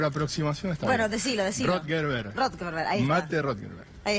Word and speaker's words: Rothenberg: Estamos con Rothenberg para charlar, dirigente del masismo, me parece que lo pronuncié mal. Estuviste cerca. Apellido, estuve cerca. Sí, por aproximación está Bueno, bien. decilo. Rothenberg, ahí está.